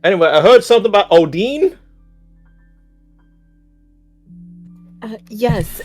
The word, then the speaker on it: Odin: of many stories of Mr Odin which by the way is the correct pronunciation uh but he can